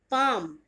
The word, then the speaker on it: palm: नाउ the last consonant letter of L silent is पाम, PALM, पाम। पाम जो हथेली होती है उसे हम बोलते हैं पाम, ओके, PALM, इसमें भी एल आपका साइलेंट रहेगा।